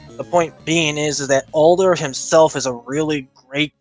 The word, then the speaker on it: Alder: the bullet and older is it half no I think his name is Alder that's how they pronounce it Alder but uh me personally